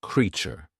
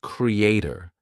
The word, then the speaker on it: creature: Many of you use the word, but the pronunciation is creature. Do you get it? Not creator. Suppose we say create. Same. Great. Then te, create, creation. There we are saying a, but for creature, we are not saying creator.